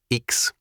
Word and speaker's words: Iks: The implicit humanism in all other cultures is carrying them down the road of the Iks (pronounced “Eeks”).